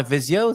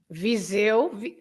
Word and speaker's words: Viseu: And I got away with my Visio there, I think. Viseu. Yes! Another example. Another example of an S between two vowels, right?